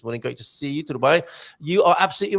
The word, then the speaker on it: Dubai: Dubai. You are absolutely right. You stressed the penultimate syllable.